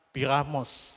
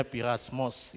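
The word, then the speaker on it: πειρασμός: Itu sama-sama memakai kata piramos, ya, perasmos, ya, tapi bacanya pirasmos.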